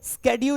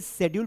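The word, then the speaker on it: schedule: ये स्केेड्यूल लिखा हुआ है। जैसे इस वर्ड को अगर हम पढ़ेंगे तो अमेरिका क्या पढ़ेगा? स्केेड्यूल पढ़ेगा। है ना? जबकि ब्रिटिश में इसे शेड्यूल पढ़ा जाता है।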